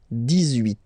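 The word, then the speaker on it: dix-huit: So you will make this little link between the two, the liaison. 18.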